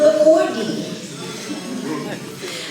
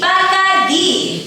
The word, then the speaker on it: Bacardi: It was never Bacardi. But of course you can say it any way you'd like. If you want to say it like we say it, just imagine there's two E's at the end of the word and repeat after me. Bacardi. Bacardi.